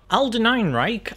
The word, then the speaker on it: Alden Ehrenreich: And that, fortunately, is Alden Ehrenreich. How do you say his name? Alden Ehrenreich as Han Solo.